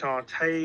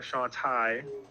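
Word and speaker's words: Shauntal: You go against Shantae or Shantai, depending how you want to pronounce it, and she has Ghost Pokemon.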